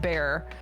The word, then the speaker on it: Bexar: We have a county here called Bexar County, but it's pronounced Bear.